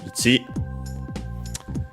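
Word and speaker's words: 一: Like in our case, as we have seen before, ichi, the number 1, is accented on the second, on the last syllable, ichi.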